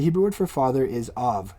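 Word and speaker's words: אב: The Hebrew word for father is av. It's spelled aleph, bet, or in this case, it's pronounced vet. All right, that's av.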